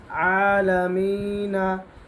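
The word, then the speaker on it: العالمين: ইয়া জের মিম আলামিন নুন জবর না আলামিনা থামার কারণে নুনের উপর জজম বসবে আলামিন তিন আলিফ মাদ রাব্বিল আলামিন রাব্বিল আলামিন আলহামদুলিল্লাহি রাব্বিল আলামিন অর্থ সৃষ্টিকুলের রব।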